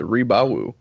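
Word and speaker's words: Rebawoo: Is that how you would pronounce that? Yeah, the Rebawu.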